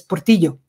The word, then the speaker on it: Portillo: And so, yes, he is from Spanish descent, which is why his name is, you pronounce it in Spanish as Portillo, and his father was from the southern part of Spain.